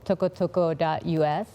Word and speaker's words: Tokotoko: It's called tokotoko.us. And I also... How do you spell that?